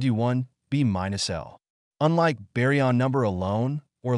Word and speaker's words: B − L: and comment in particle physics B minus l pronounced B minus L is a quantum number which is the difference